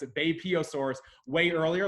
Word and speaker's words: Beipiaosaurus: Now that I know how to pronounce it, Beipiaosaurus, way earlier, like 125 mil, whereas the Therizinosaurus is only about 70 million years ago.